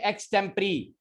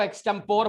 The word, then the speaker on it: Extempore: एक्सटेम्परी. Extempore. Very good, very good. याद रखिएगा, बड़े बड़े स्कूलों में इस शब्द को एक्सटेम्पोर बोला जाता है. सॉरी टू से, इसी का प्रोनाउंसिएशन है एक्सटेम्परी.